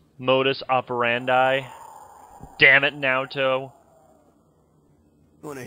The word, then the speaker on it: modus operandi: It's actually pronounced modus operandi.